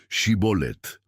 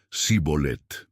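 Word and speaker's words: Shibboleth: pedían a quienes pasaban que pronunciaran la palabra shibolet los de Efraín por su acento decían sibol era suficiente quien fallaba en la pronunciación era identificado y muerto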